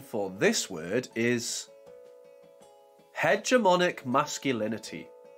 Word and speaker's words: hegemonic masculinity: for this word is hegemonic masculinity hegemonic masculinity hedge er ma Nick mask you Lin e t here is an example